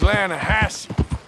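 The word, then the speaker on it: Lannahechee: some beautiful steelhead trout you mean the lanahashi no no no no no the the lana hatchy it runs right near here yeah but it's pronounced land hassey why is everything in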